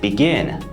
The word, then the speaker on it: begin: How about the verb begin? Begin, begin. All right, it's a multi-syllable verb too. It has 2 syllables. It also follows the CVC pattern. And most importantly, the stress falls on the last syllable.